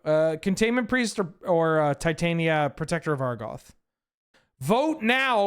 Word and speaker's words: Titania: to tell you, Titania, maybe less emphasis on the tit, but like Titania, I think that hits better than Titania.